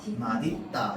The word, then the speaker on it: 맛있다: 자, 그럼 원칙 발음 뭘까요? 뭐라고 발음해야 돼? 시옷을 뭘로 바꿔? 받침 디귿 연음해봐. 어떻게? 맛있다 이렇게 발음해야죠. 원칙은 맛있다. 근데 혹시 옆에 친구가 맛있다라고 발음하면 어떨 것 같아요? 자, 그래서요 사람들이 하도 어떻게 하는 거야? 맛있다라고 얘기 많이 하는 거야. 그래서 허용해 줍니다.